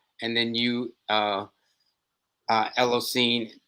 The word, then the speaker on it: Elocin: then you uh uh ella scene ned rah am i pronouncing your name correctly out of respect it's ellison nedra ellison okay i got you i